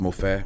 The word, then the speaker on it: Mofe: So it's pronounced Mofe, which is Mo, like I've Mo been money.